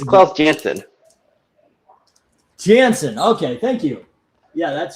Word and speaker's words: Janson: Jansen.